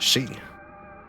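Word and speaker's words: 四: Any weeb worth his salt knows that the number 4 is pronounced she. Sounds similar to the kanji.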